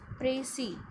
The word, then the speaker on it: précis: Looking at the word, you might be thinking it is precise, but no, my dear student, it is originated from the French word and it has been pronounced as précis.